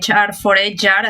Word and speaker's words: HR4HR: Además es fundadora de, corrígeme si lo pronuncio bien, HR4HR. Sí, te ayudo. Sí, de HR for HR, así como en inglés, muy moderno.